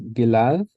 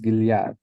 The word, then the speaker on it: Gilead: heard this pronounced is gilad and sometimes I've heard it as giliad now why isn't I